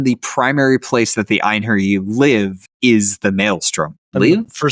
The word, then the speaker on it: einherji: become what's called an einherji. I don't know how to pronounce that. Nope, not English. It's einherji. Okay, so I mean, I was pretty close. It's a soft J.